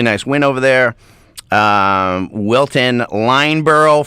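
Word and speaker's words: Lyndeborough: Wilton, Lineborough, for some reason the D is silent, 56-25 over Concord Christian.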